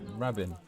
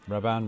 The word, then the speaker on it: Rabin: raban and all um sorry it's not Rabin raban RAB whatever what the [